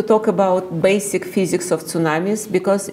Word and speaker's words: tsunami: So the tsunami is a Japanese word that has two syllables. Tsu is harbor and nami is wave.